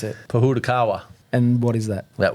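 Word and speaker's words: Pōhutukawa: notice that I intentionally didn't even try to pronounce it Puda Kawa and what is that that would be a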